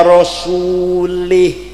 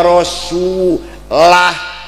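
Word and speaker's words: ورسوله: Ada lagi Orang baca Quran salah. Innallaha bari'um minal musyrikin wa rasulih. Yang benar bacanya innallaha bari'um minal musyrikin wa rasulah.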